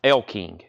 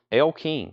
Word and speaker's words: Elle King: 39.99 gatefold near me it's pronounced Elle King really l king not Ellie wow uh big country